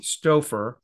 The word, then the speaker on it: Stouffer: And my name is with a K, Stouffer, with O-U-F-F-E-R, like the frozen food.